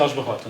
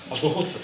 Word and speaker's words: Aljubarrota: Aljubarrota, por acaso acho que é assim que se pronuncia. Aljubarrota, sim.